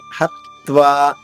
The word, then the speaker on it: హత్వా: హత్వా హా పైన ఆఘాతం ఉంది, త్వాలోని తా 2 తాలవుతుంది. హత్వా.